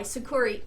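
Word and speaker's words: Sucuri: in the description box below after this video it's spelled s-u-c-u-r-i sakuri there's a free version that you can use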